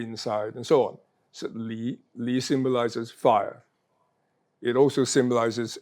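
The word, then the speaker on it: 离: Li is in the 2nd tone.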